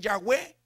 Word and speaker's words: Yahweh: A los hombres, los estudiosos, para pronunciar esa palabra le añadieron vocales. Y al nombre, a esas 4 letras ahora le dicen Yahweh o Jehová, porque ahora lleva vocales.